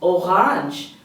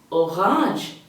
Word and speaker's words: Orange: me next we have orang orang the spelling might be the same but the pronunciation is different then we have GB